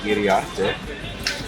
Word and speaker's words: Iriarte: En dat wordt geleid door Manny Iriarte. En die is hier gewoon. You pronounce very good my last name.